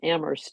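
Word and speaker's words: Amherst: embarrass you but it's we pronounce our town ammer without the H and there's a joke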